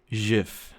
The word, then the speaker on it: GIF: I pronounce it if actually I pronounce it Jif like a mirage I I'm a firm